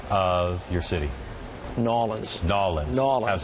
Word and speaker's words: New Orleans: Nolans. Nolans. Nolans. It's just real easy, lazy. Nolans. Just Nolans. How's that? Nolans. Yeah, not New Orleans, not New Orleans, just Nolans.